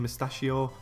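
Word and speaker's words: Musacchio: I think is how you say this guy's name, Mustachio.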